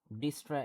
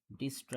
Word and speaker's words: Dijkstra: হচ্ছে আপনার ডিস্ট্রা অ্যালগরিদম আবার অনেকে বলে যে আপনার ডাস্ট্র অ্যালগরিদম ডিস্রড মানে এখানে এখানে দেখা যায় কি আপনার জে আর কেটা সাইলেন্ট থাকে যে আর কে এটা হচ্ছে আপনার সাইলেন্ট থাকে সো যাই হোক আপাতত আমাদের যেটা হোক না কেন যেমন এখানে প্রোনাউন্স লেখা আছে যে ডাইকেস্ট্রাত ডাইকেস্ট্রা সো যাই হোক এটা অনেক রকমভাবে স্পেলিং করা যায়। সো আমরা পড়ছি সামহাও মাঝে মাঝে ডিস্ট্রা আবার আবার মাঝে মাঝে পড়ছি ডাইস্ট্রা।